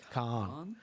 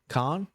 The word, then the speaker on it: Kahan: Khan. Noah Khan. Kahan.